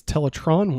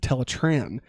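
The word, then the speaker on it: Teletraan: disgust of silver balls this episode addresses the teletron versus teletran pronunciation debate when biker acne refers to it as teletron one rat trap annoyingly corrects her with teletran black arachnid dismisses him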